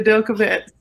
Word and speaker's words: Del Cavettes: Yeah, the Del Cavettes.